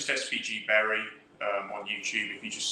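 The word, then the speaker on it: Bury: It's just SVG Berry on YouTube. If you just search SVG Berry, you'll find it. Berry is spelled B-U-R-Y for anyone who's not local.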